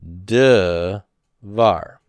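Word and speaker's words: דְּבַר: the open proprotonic syllable it's got to reduce the vocal shaba so it becomes de var okay now once i've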